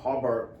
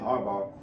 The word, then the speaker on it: Harbaugh: to their level of of potential so uh harar excuse me I don't know why I so say say his name Jim harbar does sound like a good candidate for that